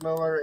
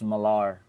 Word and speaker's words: Millar: I love it so much is because Miles Miller and uh um Jeff you know Smallville created actually pronounced miles Millar okay fine if you want to be I